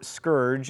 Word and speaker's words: scourge: Seemingly monotheistic, feels like the heathens, in this context likely the Native Americans, have been sent as a scourge, or scourge, as it is apparently properly pronounced.